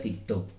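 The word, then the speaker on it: τίκτω: Porque dará a luz se escribe así como Teetac, algo así, aunque se pronuncia TikTok.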